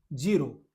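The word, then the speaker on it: zero: बड़ा सिंपल है भाई, जीरो, लेकिन इटली में बोलते हैं जेड ई को, अभी मैंने बताया जे और आर ओ को रो, जेरो, जेरो बोलते हैं भाई शून्य को, हमारे जीरो बोलते हैं।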